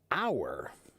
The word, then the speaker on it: hour: But the word hour, hour is spelled h o ur. An hour, right? We don't say a hour. We say an hour.